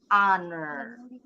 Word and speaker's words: honor: Silent He. Jadi diawali dengan bunyi huruf A. Ini hurufnya O tapi bunyinya A. Her. Berarti harus pakai honor.